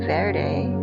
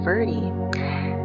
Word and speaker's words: Verde: Verde flow Verde flow down here in Camp Verde they call it Camp verie so however you want to pronounce it just doing any final